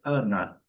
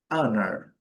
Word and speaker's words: honor: No inglês britânico seria Ana. Eu seria mais ou menos assim, Ana. Ana, quase a nossa Ana mesmo. Ana. E no inglês americano, Anar.